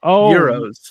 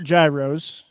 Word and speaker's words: gyros: among those present uh how do you pronounce the food g y o g y Euros Euros not Gyros not Gyros Euros yeah it's only it's only Gyros if you go to a Mexican restaurant and order the fitas okay but